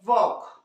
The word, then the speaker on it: walk: एक एग्जांपल जैसे K के पहले आने पे, जैसे देखिए वॉक, WALK, इसे बालक पढ़ते हैं क्या हम लोग, नहीं, क्या पढ़ते हैं, वॉक।